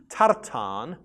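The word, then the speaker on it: תרתן: Now in Hebrew, tartan is spelt with a short A, tar, and then a long A, tan.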